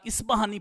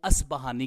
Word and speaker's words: اصبہانی: اگر کوئی اصبہانی کی جگہ اسبہانی پڑھ دیتا ہے تو پھر بھی کوئی حرج نہیں ہے، لیکن زیادہ تر جو پڑھا جاتا رہا آج تک، جو علماء محدثین کرام باقاعدہ طور پر لیتے رہے، تلفظ اس کا پڑھتے رہے، وہ اصبہانی کے نام سے پڑھتے رہے۔ تو اصبہانی جو ہے